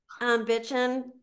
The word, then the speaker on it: Bitchin': Bitchin', just like it sounds, no G.